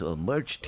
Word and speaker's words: Marcetic: I could tell you, Branko, before the show, how do you pronounce this guy's name? And now, no, Ben, it's Marcetic.